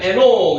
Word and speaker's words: 에녹: 에노키라고 읽기도 하는데 이걸 빨리 읽으면 에녹, 여기 받침을 넣어야 되면 에녹.